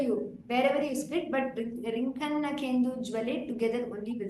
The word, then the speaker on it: रिङ्खन्नखेन्दुज्ज्वले: रिङ्खन्नखेन्दुज्ज्वले दुर्वाङ्कुराशङ्कसारङ्गसंयोगरिङ्खन्नखेन्दुज्वले दुर्वाङ्कुराशङ्कसारङ्गसंयोगरिङ्खन्नखेन्दुज्वले Okay, do not pronounce it as Rinkhanna Kendujwale. If I pronounced it that way also, it is wrong. Make sure you don't make that Kendujwale evident because it is Nakendujwale. So Rinkhanna Kendujwale should be together.